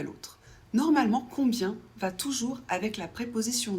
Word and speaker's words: combien: Quand c'est suivi par un B, ça se prononce. On prononce le B et I e N, ça fait y, ça fait combien ?